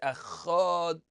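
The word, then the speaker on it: אחד: So everyone has heard it's Echad, but again, you want both to pronounce the Ches a little more and the Dalet to be perfectly pronounced.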